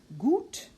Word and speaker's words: gut: And finally, the letter U, which pronounced closed, U, gut, Ruhe, Flug. Again, gut, Ruhe, Flug.